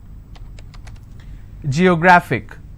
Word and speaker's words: geographic: And the rule says if I have a word ending with IC, I need to stress on the second last syllable. So I'll pronounce this as geographic.